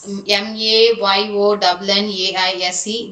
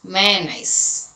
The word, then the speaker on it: mayonnaise: Okay, and this m a y o n n a i s e, that is mayonnaise, mayonnaise. Okay, it is not mayonnaise, mayonnaise. Many pronounce it like that. It is mayonnaise.